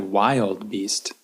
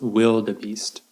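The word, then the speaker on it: wildebeest: these animals here okay you might think when you look at the word you think that kind of looks like wild beast but it's pronounced will the Beast will the beast in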